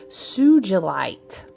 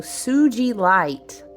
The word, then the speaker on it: sugilite: The gemstone is commonly pronounced as sugilite. Sugilite. With a soft G, like ginger.